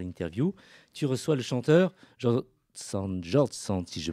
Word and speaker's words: Jordsand: Mais effectivement, Brahim, ce soir, j'inaugure Queer and Pop avec un auteur-compositeur, Jord Sand, qu'on peut prononcer également Jord Sand, ça s'écrit comme ça en tout cas, J-O-R-D-S-A-N-D.